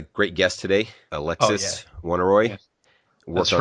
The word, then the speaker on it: Alexis: Alexis. Alexis. All right. Alexis in French, but whatever.